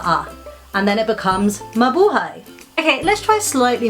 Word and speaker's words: Mabuhay: another word mother hi Mabuhay also has four syllables let's break those down ma ba ha e Mabuhay so let's match up